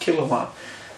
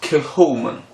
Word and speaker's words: Kilchoman: a king Kim one I thought was proud pronounced kilowatt but they told us it was killed human and that was amazing theory because this is